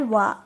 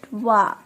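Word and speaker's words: は: Followed by wa. So minasan, we call it ha in hiragana, right? But since it's in particle, so we will pronounce it wa.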